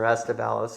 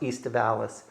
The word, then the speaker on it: aestivalis: It is most likely, it's classified as a native species, Vitis aestivalis or estivalis. It's the Latin term would be pronounced aestivalis.